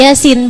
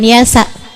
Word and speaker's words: Yasin: Allah biar kamu bisa ngerti bacanya ini Yasin bukan Yasa gitu ya makna yang kedua